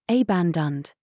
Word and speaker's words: abandoned: second syllable umbrella abandoned pronounce the second a softly abandoned reflect emphasize the second